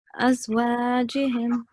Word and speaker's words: أزواجهم: No, don't pronounce this ha from the middle throat. It's just simple ha. أزواجهم.